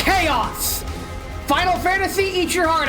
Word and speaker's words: Chaos: It's Chaos! Final Fantasy, eat your heart out. We found Chaos. Or Chaos, as some people mispronounce it, much to my chagrin.